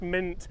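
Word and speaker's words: Mynt: a little bit different it is pronounced mint as in what you'd have in a cocktail why would i go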